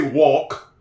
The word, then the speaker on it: walk: They don't say walk. They don't say walk. This is a silent L.